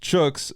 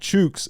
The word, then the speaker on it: chooks: pronunciation chooks is pronounced chooks as in Tootsie Roll not shoot not chooks as in shoots keep